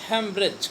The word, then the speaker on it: haemorrhage: हेमरेज तो जानते ही हो, स्पेलिंग सीखो, HAEMORRHAGE, हेमरेज, हेमरेज बोलते हैं, ब्रेन हेमरेज, सुने हो ना।